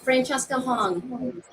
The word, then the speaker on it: Francesca Hong: Am I pronouncing any part of your name incorrectly? Because Oh, Francesca Hong.